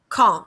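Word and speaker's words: quand: to say that again you don't pronounce the d the d is pronounced silent so it's like kong which is the q-u-a-n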